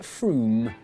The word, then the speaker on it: Frome: Frome, it should be blitheringly obvious, is pronounced Froome. But if you did say Frome, don't worry, Frome. you're in good company.